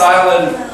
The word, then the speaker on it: island: what happened that's believe just remember that it's island is just forget about the S it's there in the correct spelling but just in the pronunciation it's not there it's is land